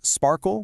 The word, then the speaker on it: SPARQL: First, it's pronounced SPARQL, which is kind of fun, but more importantly, it is the official W3C standard for querying a specific data model called RDF.